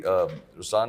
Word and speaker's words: Ruslaan: So even in Ruslan, when you say Ruslan also means the lion, it's the attitude of I am, but the right pronunciation is Ruslan.